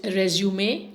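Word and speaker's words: résumé: It is resume and not resume. Resume means it's an English word which means to stop and start again. Whereas resume, look at the pronunciation, it's nasal pronunciation. It means it's a French term which means summary of one's achievements.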